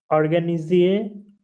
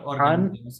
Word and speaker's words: organiser: And Je vais organiser not organize.